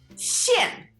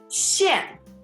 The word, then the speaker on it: 馅: 馅 Like a karate chop.